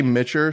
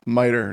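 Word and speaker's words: MITRE: this before I always mess up the pronunciation miter is that what it is yeah I say mitcher sometimes I I just spell it out sometimes cuz I have no idea miter now I know I'm calling it m but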